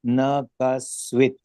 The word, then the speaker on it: न कश्चित्: अशेषशौख्यं लभते न कश्चित् Kahasvit to be, ha will be silent. So you have to pronounce as Nakasvit.